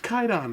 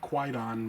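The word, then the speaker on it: Kwaidan: it is quite on it's actually pronounced Khaitan i don't know why people keep calling it quite on but yeah japanese film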